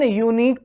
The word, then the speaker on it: unique: Unique although starts with vowel letter U but is consonant by sound, but the sound is consonant, yes or no.